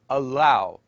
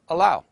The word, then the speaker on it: allow: allow attack and connect notice that the doubled letters in the writing are not germinated or doubled in pronunciation they are produced as one sound Arabic learners of English tend to wrongly lengthen some English consonants for example they wrongly say allow instead of allow or attack instead of attack and connect instead of connect morphological